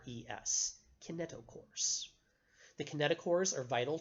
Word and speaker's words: kinetochores: going to be a group of proteins called kaneto course okay i n ET o CH o r es kaneto course the kinetochores are vital to the process